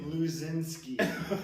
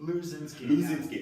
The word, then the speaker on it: Luczynski: Luzinski.